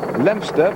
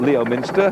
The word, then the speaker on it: Leominster: But he's going through Colford, Ross on Wye, Withington, Leominster, that's spelled Leominster, but it's called Leominster, and up to Ludlow, and then to Much Wenlock, covering 91.5 miles tomorrow.